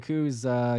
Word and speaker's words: Koo: And then last name, is it Koo or okay? Koo.